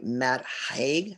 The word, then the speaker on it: Matt Haig: The next book we want to look at is called The Midnight Library, and that is a book by Matt Haig. I believe that's how you pronounce his name.